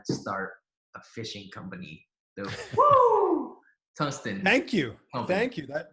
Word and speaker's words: Woo Tungsten: Woo! Tungsten.